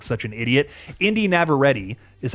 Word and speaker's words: Navarrete: Indy Navarrete is how you actually pronounce her name.